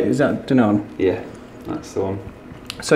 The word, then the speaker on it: Danone: Is that Danone?